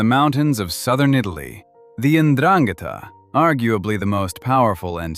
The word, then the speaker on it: 'Ndrangheta: That title belongs to the 'Ndrangheta, pronounced 'Ndrangheta, and unless you follow organized crime closely, you have probably never heard of them.